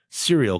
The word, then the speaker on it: Serial: There's a European, I think British cereal company called Cereal, but it's spelled like SERIAL, like cereal, but it's they make cereal.